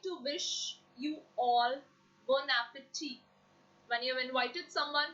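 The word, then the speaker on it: bon appétit: If you actually look at the word bon appetit, it's not bon appetit, it's bon appetit. I'm repeating again, the pronunciation is bon appetit.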